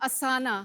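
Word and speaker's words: Asana: आसान इज असाना। यस यस, और इसमें ना ऐड कर लिए।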